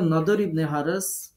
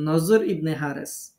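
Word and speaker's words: النضر بن الحارث: সেই প্রশ্নকারী ব্যক্তির নাম ছিল নদর ইবনে হারেস। কোথাও তার নাম লেখা আছে নজর ইবনে হারেস, নাম একই। আরবিতে দোয়াত, তো এর জন্য যারা দোয়াতকে অন্তর্যমত উচ্চারণ করেন, তারা নজর ইবনে হারেস লেখেন ওনার নাম, আর যারা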